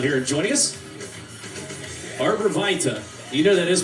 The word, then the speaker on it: Arbor Vitae: You know that is pronounced Vitae in the rest of the world, though, right? Oui. Just checking. It's Vitae. Arbor Vitae. That's like a redneck French pronunciation of it, just for the record.